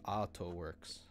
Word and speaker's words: Atoworks: I guess the correct pronunciation is Atoworks, right? Because you have that line above the A. That's the extension. It's the Japanese way of saying art, Ato.